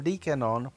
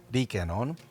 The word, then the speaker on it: Rikenon: start off with age before beauty so there Deacon on P by V Co is a Japanese lens that is just actually pronounced Deacon on so that's how I'm gonna pronounce it for